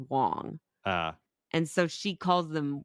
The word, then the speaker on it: Wang: And she calls them the Wangs and she's like Mrs. Wang when really their names it's spelled W-A-N-G, but it's pronounced Wong.